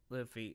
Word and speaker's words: Luffy: How do I describe Luffy? Oh, is it pronounced Luffy? Yeah. Like that's always how I pronounced it. Rhymes Luffy, with Goofy.